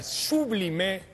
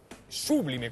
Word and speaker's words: sublime: Bueno yo invoco la Sublime Sublime con acento en la u influencia de los 72